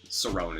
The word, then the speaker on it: Cerrone: I think it's Cerrone is how you say it.